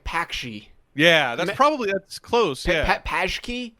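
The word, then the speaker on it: pączki: Oh, I always called it like Pakshi. Yeah, that's close. Yeah. Pajki? Pajki. See, I'm probably way off on that. I've seen punchki when I've seen it phonetically.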